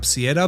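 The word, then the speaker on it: Ciara: अब किियारा के नाम की स्पेलिंग है सी आई ए आर ए तो इसे आप सियरा भी कह सकते हैं बट मैं पूरी वीडियो में किियारा ही बोलूंगा।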